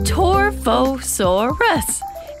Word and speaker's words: Torvosaurus: 144 million years ago you say my name torfosaurus it means Savage lizard what is going on